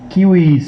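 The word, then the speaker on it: civis: polish শব্দটা হচছে সিবিস Latin উচ্চারণ আরেকটু কঠিন ওরা কিউস বলে আমরা ইংরেজিতে সিবিস বলি সেখান থেকেই সিভিল সোসাইটি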